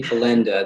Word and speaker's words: Pellendat: Pellendat? All of the really tough names in this session. It's actually Pelenda. The T is silent.